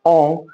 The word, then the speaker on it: en: En pronounced as on.